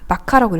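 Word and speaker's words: vacca: 그래서 여기 보시면 그 소를 뜻하는 라틴어가 이제 마카입니다. 마카라고 읽어요.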